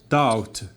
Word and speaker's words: doubt: Okay, for example, another example like in doubt. Doubt, we have BT. The combination of BT are always in the at the end of the word is a silent letter.